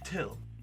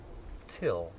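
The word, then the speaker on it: Thgil: it t h g e i l puts pronounced like till who is this guy so what's your name light fit my name is till it's spelled what g-i-l but it's pronounced till we got neal he was a heroin addict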